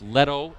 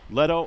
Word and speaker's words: Leto: He says he's Jack's brother, and you pronounce it Labish. All right, we apologize. We were told it was Labish and Leto, so it's Leto and Labish. Leto and Labish.